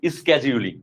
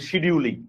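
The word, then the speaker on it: scheduling: তাকে বলা হয় টাইম স্কেডিউলিং, বা বাংলায় বলতে পারেন টাইম শিডিউলিং, আর ইংলিশ উচ্চারণ করলে হবে টাইম স্কেডিউলিং।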